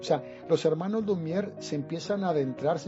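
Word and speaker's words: Lumière: De ahí también los hermanos Lumier y sobre todo Luis Lumiag, Lumiag que lo pronuncié bien, él se anima y cuando ve es Lumier, Lumier tal y como suena.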